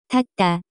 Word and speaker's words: 닫다: The pronunciation of this word is closer to. 닫다.